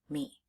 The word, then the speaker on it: me: There are 2 sounds in the word me.